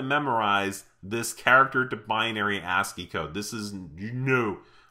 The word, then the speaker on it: ASCII: is something called ascii the ascii this is pronounced ascii and it stands for the american standard code